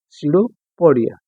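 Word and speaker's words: pseudopodia: लेते इसका आंसर होगा सो पडिया य पर प साइलेंट नेक्स्ट ट सस्टस एंटर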